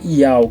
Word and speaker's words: Yauh: E a gente pronunciando a pronunciar até ial, que se escreve i a u h, né?